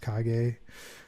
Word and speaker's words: Kage: So we didn't really touch base upon the techno and house stuff I do, which is my other name, Kage with a K. It's pronounced Kage.